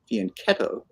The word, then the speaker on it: fianchetto: The Italian pronunciation is fianchetto.